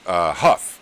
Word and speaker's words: Hough: Senator Hough is how it's pronounced, like Huff.